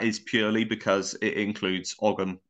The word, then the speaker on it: Ogham: And that is purely because it includes Ogham as well as Latin, or Oum, however you want to pronounce it, which was also very faded as well, wasn't it?